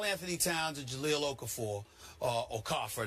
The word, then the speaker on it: Okafor: Listen, Karl Anthony Towns and Jahlil Okafor, Okafor, that's the way to say his name is pronounced.